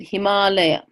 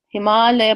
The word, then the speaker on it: Himalaya: there the Himalaya Mountains we pronounce it Himalaya Himalaya Parramatta India's our senses